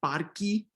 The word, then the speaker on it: parque: Pedagogically, we could think about it, okay, it's an E, let's just say parque, right? But technically, phonetically, instrumentally speaking, it's not necessarily this full-blown E, right?